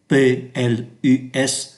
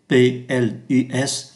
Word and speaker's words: plus: Và trong phần này chúng ta tìm hiểu cách phát âm chữ PLUS, pronounce PLUS.